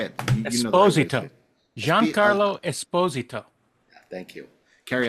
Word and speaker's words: Esposito: Esposito.